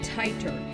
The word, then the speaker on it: Titor: as to be expected some people pronounce your name tighter is this correct you pronounce my name correctly as it comes from